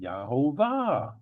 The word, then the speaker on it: YeHoVaH: But because this U really is a V, when we go up here to the father's name, it is a V pronounced as a V. Yahovah.